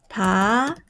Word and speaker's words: 받아요: 자, how do you pronounce this one? 바다요? So writing but pronounciation should be 받아요.